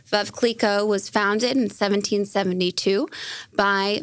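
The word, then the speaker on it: Veuve Clicquot: a couple points on this so it's actually pronounced V Cleo V Cleo was founded in 1772 by Madame Cleo her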